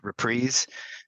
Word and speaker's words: reprise: this song is that the word reprise can also be uh pronounced repre and but I'm in the majority there so I'm I'm stick sticking with the reprise uh it's it's kind